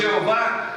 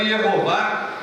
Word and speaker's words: Jeová: A pronúncia que nós temos hoje, Jeová, ela é pouco provável. Pouco provável. Porque pegaram as vogais da palavra Adonai e jogaram nessas 4 letras. Colocaram nessas 4 letras, dando Yehová, ou na nossa tradução, no nosso português, Jeová.